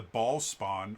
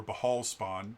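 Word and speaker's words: Bhaalspawn: 1 and two um referred to as the Ball Spawn or Bahal Spawn depending on how you want to pronounce it. Um the Bahal spawn uh is how he's referenced most times.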